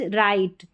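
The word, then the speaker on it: right: यहां पर जी और एच का लाइट नाइट राइट। क्या है? लाइट, नाइट और राइट। यहां पर जी एच के कॉम्बिनेशन में जी साइलेंट है।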